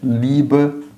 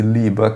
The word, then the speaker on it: Lieber: Quando acontece isso, a não ser em caso de artigo, você vai substituir o ER do Lieber por A.